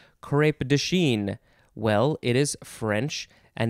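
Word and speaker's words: crêpe de Chine: the second word is d-e third word c-h-i-n-e crepe dashin and you can put the little hat carrot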